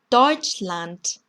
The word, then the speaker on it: Deutschland: 자, 이 단어를 보시면 여기도 D가 있고 여기도 D가 있는데 어떻게 발음되나 봤더니 Deutschland, Deutschland 이렇게 발음이 되네요. 끝에 온 D가 지금 T로 발음이 나는 거 들으셨죠?